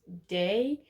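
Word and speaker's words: Daye: my last name wrong my last name is literally just day with an e on the end that is silent so yeah but he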